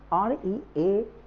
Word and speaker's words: really: really आराम से really ना कह के हम really, री पे स्ट्रेस होगी, यानी इस पे जोर देंगे, बोलेंगे really.